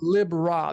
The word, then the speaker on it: Libra: You have Lib Ra. People call it Libra, but it's the pronunciation Lib-Ra.